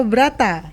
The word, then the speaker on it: Brata: Ada Pak Brata. Iya. Atau bacanya Broto Pak. Kalau orang Jawa.